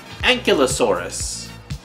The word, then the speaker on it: Ankylosaurus: Actually, it's pronounced Indominus Rex and Ankylosaurus.